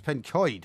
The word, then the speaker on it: Pencoed: It's Pencoed, actually, is how you say it.